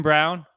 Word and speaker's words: Braun: can we talk about Christian Brown or as it's spelled Braun yeah I don't understand